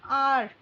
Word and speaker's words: hour: Amarjeet waited for more than an hour. So HOUR में H silent होता है, और ये कौन सा है, 1 hour 2 hour, और OURR मतलब हमारा.